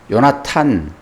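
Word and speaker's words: יהונתן: 승리하는 그런 장면이 나옵니다 요나단 요나탄 요나 예탄음 예호 나탄 이런 발음을 합니다 이것은 여호와께서 주셨다 이런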